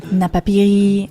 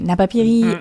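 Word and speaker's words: Napapijri: Napiri, and yes, I just checked the pronunciation after mispronouncing it for more than a decade. But anyway, Napiri and Tommy Hilfinger are great examples of this.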